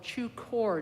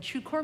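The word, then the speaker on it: Chökhor: holiday of the Tibetan lunar year is called Chu core duchen Chu is spelled c-h-o core k-h-o-r and chukor means Dharma wheel and so it's the Turning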